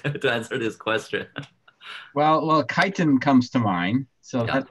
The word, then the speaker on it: chitin: Please spell that the word. I'm taking note chitin. For my graduate student. Chitin.